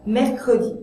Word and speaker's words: mercredi: Attention, il y a une règle des 3 consonnes. S'il y a 2 consonnes avant le E muet et une après, on doit prononcer ce E, parce que c'est trop difficile pour un locuteur français de prononcer 3 consonnes d'affilée. Par exemple, mercredi. J'ai besoin de ce E dans mercredi.